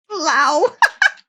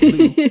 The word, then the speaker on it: leu: The Romanian leu still changes hands. Lau! Oh, God. Leu. The proper way to say it.